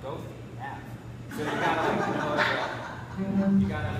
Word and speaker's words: Goethe: which I didn't know, there's a street called Goethe, but no one will know what you're talking about unless you call it Goethe.